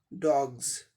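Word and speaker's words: dogs: अब इसका उच्चारण देख लें, यहाँ डी का डॉ, ओ का ओ, जी का गॉ, लास्ट यस का ज, डॉग्स। हम लोग साधारणतया डॉग्स बोलते हैं लेकिन इसका सही उच्चारण डॉग्स, यस का उच्चारण जॉ जैसे होगा, डॉग्स।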